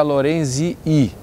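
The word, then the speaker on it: lorenzii: Lorenzi, mas a acentuação não está na última sílaba. Sempre na penúltima, nesse caso aí, né? Ok? Então é só mais uma regra aí do latim, da pronúncia do latim.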